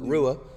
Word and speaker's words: Rua: away up Rua sorry I said your name wrong the entire stream really guessed it was but Rua you really wanted yeah